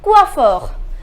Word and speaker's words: coiffeur: we say we offer the pronunciation is coiffeur na sure comes the